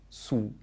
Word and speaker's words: su: in the mouth, and the second word, su, u, su, has the tongue further back in the mouth. Check you don't say it like the English word sue.